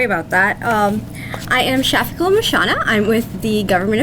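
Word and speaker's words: Shafiquil: answer them sorry about that um I am shafiko mashana I'm with the government Affairs Department my name is spelled s-h-a-f-i-q-u-i-l last name m-u-h-s-h-n-a and I'm going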